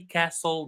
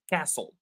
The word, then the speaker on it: castle: And finally, castle. The T is silent. I'm going to read the words, the green words alone. Night, lamb, road, plumber, climbed, castle.